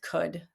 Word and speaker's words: could: Similarly with could, the tricky part of could is k, d. So k spelled C, is spelled OUL.